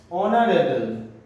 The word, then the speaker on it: অনারেবল: এইচ সাউন্ডটা silent থাকে, যেমন এটাকে আমরা আওয়ার বলি, অ্যান আওয়ার। এইচটা কিন্তু এখানে সাইলেন্ট, আমাদের ফার্স্ট সাউন্ডটা কিন্তু আ আসছে। Hour, honest, অসাউন্ড, অনারেবল।